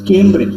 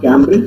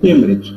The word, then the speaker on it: Cambridge: either Oxford or Cambridge it's Cambridge not Cambridge it's Cambridge okay he was many things